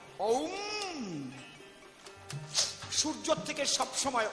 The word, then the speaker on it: ওম: Always বের হচ্ছে ওম ওম। অ উ আর ম।